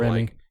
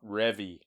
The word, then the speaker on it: Revy: And, like, you don't see any character progression from What's-Her-Face until, Remy. Remy, until about It's season Revy. 2. What? Revy.